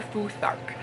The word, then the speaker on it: Futhark: The first prompt we had was for Elder Futhark. I did have to look up how to pronounce it cuz I didn't know if the T went on the first syllable or on the second syllable, but it turns out it's actually the second syllable.